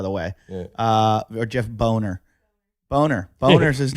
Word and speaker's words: Boehner: This is from Jeff Bonner, by the way. Yeah. Or Jeff Boner. Boner's his name. Hey, boner. But it's spelled Boehner.